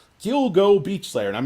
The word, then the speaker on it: Gilgo: it so I told not Alura like he rhymes with dildo Gilgo Gilgo Beach Slayer and I'm not I'm not giving